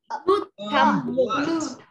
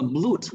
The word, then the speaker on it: blood: Từ này không đọc là blood mà chúng ta đọc là blood. Các bạn lưu là chữ blood. Hai chữ o này được phát âm như dấu mũ âm á, blood.